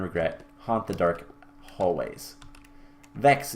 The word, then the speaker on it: Vechs: Vechs is also how to pronounce Vechs, by the way. Not Vechs or Vix or Vechs.